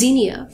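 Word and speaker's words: Xenia: My name is Zenia, spelled with an X, and I am the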